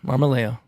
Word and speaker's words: Marmolejo: how do you say your last name marmaleo oh that's easy marmalayo yep all right so i think you guys